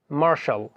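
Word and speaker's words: martial: এছাড়া রয়েছে মার্শাল, এটা হচ্ছে TIAL এর উচ্চারণ।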